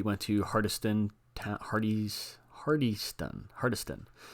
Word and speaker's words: Hardyston: to hardiston Hardy's hardyston hardiston I believe that's how you pronounce it he went to their